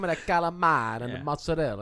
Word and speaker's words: mozzarella: And they start and they say mozzarell. I go honest. They don't say mozzarell. They say mozzarella. That's how they say it in Italy.